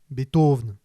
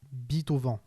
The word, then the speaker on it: Beethoven: et dégage le final ce qui donne à peu près beethoven ce qui est sûr et c'est flaubert le premier à le dire dans son dictionnaire des idées reçues c'est qu'il ne se prononce absolument pas beat au vent voilà ça y est